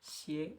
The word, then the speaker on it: 些: Então, xie é o jeito que a gente pronuncia aqui.